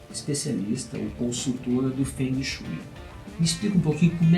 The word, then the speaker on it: Feng Shui: Feng Shui. Obrigado. Essa é a forma chinesa de pronunciar os ideogramas, né?